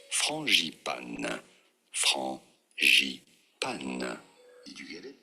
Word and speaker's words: frangipane: For reference, in France, we say it as frangipane.